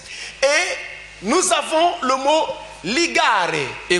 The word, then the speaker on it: ligare: nous avons le mot ligare. Ligare en latin, comme vous l'entendez. Lex avec L E X pour ceux qui sont loin. Ligare avec L L I I G G A A R E A R E Ligare signifie justement lien.